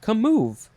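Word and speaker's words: commove: how you say it come move it's com and then the word move it is a transitive verb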